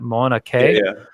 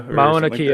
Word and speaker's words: Mauna Kea: the hip pronouncing that mana K if I really are supposed to pronounce every vowel separately and I'm on Mauna Kea Mauna Kea okay that might be that might be it then the it is the